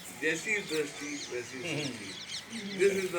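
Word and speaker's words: Jaisi Drasti Vaisi Srasti: Sinaji, is going to speak next episode of Jesse Sasti Vesi Dusty. Or, I must say it correctly, Jesse Dusty Vesi Sasti.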